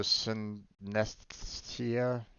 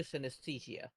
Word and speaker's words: synesthesia: CYN, syn, SES, the, THE, and SIA, SIA. Synesthesia.